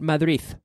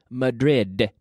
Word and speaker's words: Madrid: In English, the D has one sound and one sound only, d, d, d, d, d.